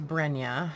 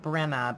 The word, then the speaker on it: Brenya: Oh, so this one is Brenya. It looks like Brenna, but it's pronounced Brenya.